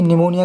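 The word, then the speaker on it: pneumonia: के लिए ये जी निमोनिया इसमें पीस साइलेंट होता है निमोनिया फर्स्ट इंडिजन अस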